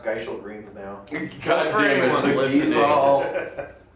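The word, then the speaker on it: Gysahl Greens: Well, you know, at the very end of that video, they say also it's pronounced Geishel Greens now.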